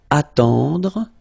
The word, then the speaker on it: attendre: Then attendre. Attendre. Remember, final you don't insist on it, it just gives you the possibility to pronounce the dr, dr.